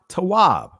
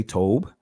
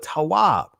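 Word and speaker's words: טוב: is not good la tawab some of you guys will say tobe but we're just dealing with the ancient pronunciation here and yaha said it is not good la not good tawab that man that the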